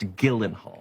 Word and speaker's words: Gyllenhaal: Your name is pronounced Gyllenhaal.